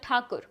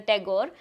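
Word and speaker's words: Thakur: status and their wealth they were called takur the British had a hard time pronouncing it so they mispronounced it as the tagore and that is how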